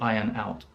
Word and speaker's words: iron out: it's iron not iron the r is silent so to iron out and this means to